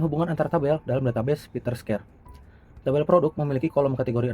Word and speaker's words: PITTRSCARE: Website ini berjudul PeterScare, dibacanya PeterScare.